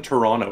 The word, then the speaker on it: Toronto: from and you're from Toronto right I'm from drama yes yes okay we don't pronounce the second T by the way Toronto it's call it's it's it's not even Toronto it's Toronto TR onl